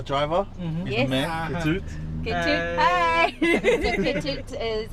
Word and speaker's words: Ketut: How do you pronounce your name? Ketut.